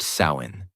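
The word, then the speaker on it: Samhain: The night of the festival called Samhine, pronounced sain.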